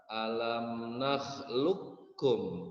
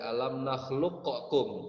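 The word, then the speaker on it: ألم نخلقكم: Jadi qafnya huruf pertamanya masukkan ke dalam huruf yang kedua. Huruf yang kedua ditambahkan tasydid. Ya, ditambahkan tasydid. Jadi cara membacanya adalah alam nakhluqkum. Jadi tidak qalqalah dia. Tidak alam nakhluqakum, tidak. Membacanya qalqalah, tidak qalqalah. Alam nakhluqkum.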